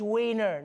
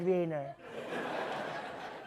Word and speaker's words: Wiener: And he demanded that Germany stop pronouncing their W's like V's. You're making Wiener Schnitzel sound way less funny like that. It's Wiener, not Wiener.